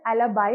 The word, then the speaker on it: alibi: Moving to the next term, it is pronounced as एलिबाई और एलिबी. Different pronunciation होती है इसकी, which basically means at another place or elsewhere.